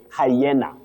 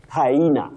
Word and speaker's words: hyena: Locally we find ourselves saying hyena which is not accurate. You say hyena.